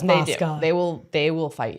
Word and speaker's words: Mosca: But wait, first, Moska or Moscow? So, the fan we say Moska. Um, most of the city says Moscow and the whole city says Moska.